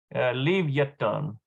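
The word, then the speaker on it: לויתן: Leviathan. Actually is how you pronounce that in Hebrew.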